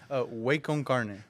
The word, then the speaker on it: Waconcarne: Waconcarne. Waconcarne. So, yes. like ¿qué onda, way? Oh. carne.